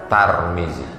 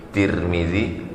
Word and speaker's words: Tirmidzi: boleh juga dibaca turning boleh juga dibaca Tarmizi tiga cara membacanya Tarmizi Tirmidzi turmudzi begitu dalam kitab Al